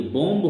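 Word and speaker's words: bomb: अर्थ जटिल होता है इसी प्रकार है की बम होता है बम लेकिन लिखा जाता है बम और बोला भी बम ही जाता है इसमें लास्ट वाला भी उसे साइलेंट लेटर होता है इसी प्रकार बच्चों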